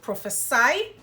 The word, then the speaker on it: prophesy: If you're using the S, the pronunciation is prophesy, meaning to predict, speak into the future if you like. So that's prophesy.